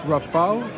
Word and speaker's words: Rafale: So once again, I think this is pronounced Rafale, like the combat French airplane, if I'm not mistaken.